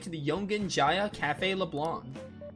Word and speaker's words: Leblanc: the yongen Jaa Cafe leblan I've been always saying LeBlanc but it's actually leblan again like pronunciation overrated